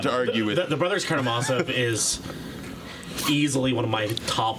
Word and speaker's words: Karamazov: So the book is actually Bratya Karamazovi. Okay. Yeah, so that's how you need to pronounce it from here on out. Otherwise, you're a poser.